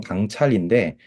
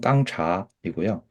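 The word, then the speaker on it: 刚察: 이게 이제 우리 한국 발음 읽으면 강찰인데 중국 발음 읽으면 깡차이고요.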